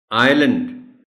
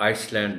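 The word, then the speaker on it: island: आइलैंड, एस इसमें silent है, तो आइसलैंड नहीं बोलना, ये अपने बच्चों को बताना है कि ये आइलैंड है इसका प्रोनाउंसिएशन.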